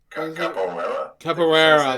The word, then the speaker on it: capoeira: Last Capoeira fighter in all of fighting games. If that's how you pronounce it, I'm sorry. Capoeira? Capoeira, there you go, sorry.